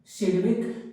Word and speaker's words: Sidgwick: rule या इसी को सिड रूल भी कहते क्या कहते सिविक जी साइलेंट होता है रूल कते है अब